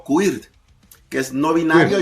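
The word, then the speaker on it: queer: o transgénero, la B de bisexual, la Q del inglés de inglés antiguo que pronuncia más o menos quir que es no binario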